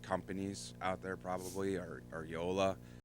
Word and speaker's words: Joola: Your two biggest companies out there probably are Yola, which is spelled Joola, Okay.